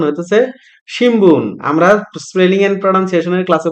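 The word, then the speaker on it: 新聞: হইতেছে সিমবুন যদিও রোমাজিতে লেখা সিমুন কিন্তু এটার উচ্চারণ হতেছে সিমবুন আমরা স্পেলিং এন্ড প্রনান্সিয়েশনের ক্লাসে পড়ে আসছি বিএমপি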